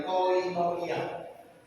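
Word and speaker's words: κοινωνία: Ini kata persekutuan ini terjemah dari koinonia. Ini bacanya koinonia, ya, bacanya begitu. Hurufnya begitu. Ini kappa, omikron, iota, nun, omega, nun, iota, alpha.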